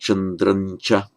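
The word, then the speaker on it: चन्द्रं च: Suryam, chandram cha chandran cha. That's written with anusvara, but would tend to be pronounced chandran cha.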